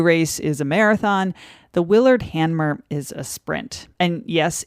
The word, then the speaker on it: Willard Hanmer: The Willard Hanmer race was created in 1963, named after a well-known guideboat builder from Saranac Lake.